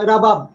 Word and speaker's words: রুবাব: আফগানিস্তান থেকে আসছে রাবাব, রাবাব থেকে, রাবাবও বলে রুবাবও বলে। জি, এটাকে রাবাবও বলে, বা মূলত রুবাব আর কি, উচ্চারণটা রুবাব হয়, আফগান রুবাব।